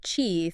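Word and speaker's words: qi: this key thing I keep hearing about key pronounced Chi think of it as your vital energy that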